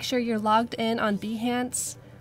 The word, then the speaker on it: Behance: Steven Behance, you've been pronouncing it like Beyonce this whole time. It's actually Behance.